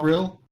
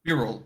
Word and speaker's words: Beryl: Beryl. Not. Think- All right. Think squirrel, but Beryl. Think Japanese pronunciation. There's no high point on any syllable.